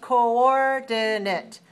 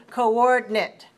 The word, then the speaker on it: coordinate: Now, on the audio CD, you will hear 4 syllables, coordinate, coordinate. However, there is another pronunciation with 3 syllables, second syllable stress also, coordinate, coordinate. So the third vowel I can be omitted. It's possible to say both ways, coordinate and coordinate, and both are correct. Make sure you stress the second syllable.